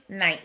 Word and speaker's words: knight: spellings what does this knight mean night spell with a silent k means someone who battled